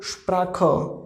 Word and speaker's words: Sprache: It means pronunciation of CH will be kha, okay. And at the end we have E, it means we will pronounce a at the end, okay. So Sprache, Sprache, Sprache means language, Tasche, bag, Sprache, language, okay.